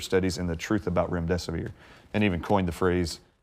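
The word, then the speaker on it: remdesivir: and the truth about rem desae and even coined the phrase if you can't remember what the name is just it rhymes with run death is near and that has literally gone worldwide.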